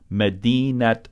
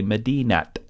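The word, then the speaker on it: مدينة: Non-final words that end with ta marbuta pronounce the ta marbuta like a regular ta.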